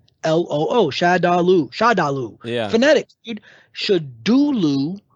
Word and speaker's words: Shadaloo: really knows what it's called, but no, it's Shadulu. And I'm like, hey, we do know because it's spelled out for you. Yeah. It's Shadaloo.